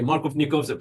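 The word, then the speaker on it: Markovnikov: me double check the it's a Russian name let me double check the pronunciation for it and so it's Mark of yes the pronunciation is going to be Mark of nikov product Mark of nikov product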